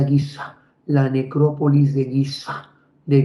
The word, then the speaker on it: Giza: se llama este cementerio la necrópolis de gisé Bueno en realidad se pronuncia giza la necrópolis de guiza